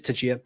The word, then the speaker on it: Tchia: Well, after that, we saw what's on the screen now, Tchia, if that's how you pronounce it. Maybe it's just Chia. Maybe the T is silent. It's an upcoming. It is Tchia.